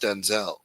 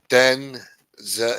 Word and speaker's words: Denzel: Denzel said, "My name is not pronounced Denzel." Denzel instead of Denzel. Washington said his name correctly and clipped the second syllable to sound like Denzel.